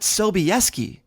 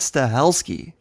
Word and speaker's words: Stahelski: director of John Wick Chad stahelski as Chad Sobieski like he's the father of ly sobeski no no Chad stahelski number two Joe manganelo